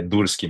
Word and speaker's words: Durscki: Aqui na América do Norte não é tão comum, o pessoal gosta de falar Dursky, mas eu sou brasileiro e de família imigrante do leste europeu e é Dursky mesmo, então tá perfeito.